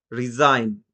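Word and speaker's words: resign: ডিজাইন, জির উচ্চারণ আসলো না, জি সাইলেন্ট থাকে। যখন কোন ওয়ার্ডের শেষে আইজিএন থাকবে তখন আইজিএন এর সাউন্ডটা হবে আইন। যেমনটা রিজাইন, রেইন রাজত্ব, ফেইন।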